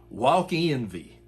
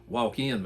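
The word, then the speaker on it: Wakenva: We pronounced it walk envy. Well, it was really walkin, but W A keen va.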